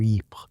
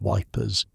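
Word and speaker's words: Ypres: A magazine put together by soldiers stationed near EP, which everyone pronounces Wipers because that's easier than the French way.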